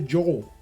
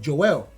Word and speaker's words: Joelle: way Americans would do Americans would say Joe you pronounce my name the way I presented my name to him Joelle so he will call